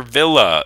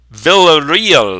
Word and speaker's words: Villarreal: Jennifer I didn't know Jennifer villa it's Jennifer Villarreal ah i butchered I so stupid map